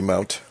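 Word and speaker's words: Dragonmont: Is it Dragon Mont or Mount? I think it's supposed to be Mount. Okay, it's spelled Mont but pronounced Mount. That makes all the sense in the world to me.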